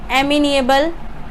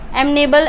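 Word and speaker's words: amenable: Next हमें given है एमिनिएबल। एमनेबल।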